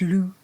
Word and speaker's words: loup: Unless it's French, in which case it's loup. You don't pronounce the P.